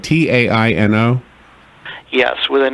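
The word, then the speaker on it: Taíno: my is this right ta Ino yes with an accent over the I so you know you can never really know but I think the way they would have pronounced it is Taino okay not to be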